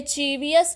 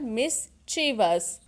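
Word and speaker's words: mischievous: ये चीवियस नहीं है, इसकी सही प्रोनाउंसिएशन है मिसचीवस।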